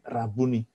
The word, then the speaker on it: Rabuni: dengan Yesus Rabu nih Bacanya jangan kaya orang Jakarta bunyi itu bukan soal matanya rabun gitu kan bukan Rabu nih itu Tapi Rabu nih supaya aku dapat melihat